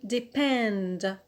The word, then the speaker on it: depend: is the verb to depend depend here the stress is on the alt on pinned why because